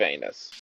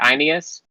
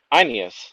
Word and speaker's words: Aeneas: Okay, I just 100% want to make sure I don't accidentally pronounce it Sword of Anus.